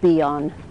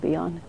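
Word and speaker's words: Bion: how many of you know the work of beon how many of you are familiar with beon okay uh can you spell that b IO n uh so uh Wilford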